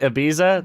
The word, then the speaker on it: Ibiza: Ibiza. Is that how you say it? Ibiza?